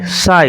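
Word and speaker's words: sigh: বিলাপ করা কান্নাকাটি করা শি সেড উইথ সাই সাই উচ্চারণ লক্ষ্য করো সাই তিনি দীর্ঘশ্বাস ফেলে বললেন সাই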